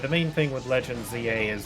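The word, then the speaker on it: Z-A: playing, um, Pokemon Legends ZA lately. Um, although cuz I'm, I'm British, the we actually pronounce it Zed, not not Z. But apparently canonically, it's still pronounced ZA regardless.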